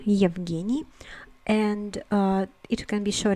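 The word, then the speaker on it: Евгений: maxime next we have evgeny evgeny and it can be shown into genius i know that this uh first sound is very hard for the non-russian speaker but you have to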